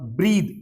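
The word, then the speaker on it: breathe: और ब्रीद, ई लग गया तो ये वर्ब हो जाती है, ये वर्ब है, सांस लेना, सांस लेने की क्रिया।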